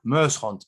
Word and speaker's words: Muyshondt: Well, my handle is quite complicated because it's and Muyshont, but it's spelled Muyshondt.